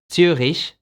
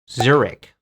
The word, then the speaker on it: Zurich: churishi in english well in german it's tsurish but in english it's zurich churichi now let's go